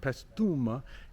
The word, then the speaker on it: Paestum: It looks like Paestum, Paesuma, but Paestum is the way the guy said it.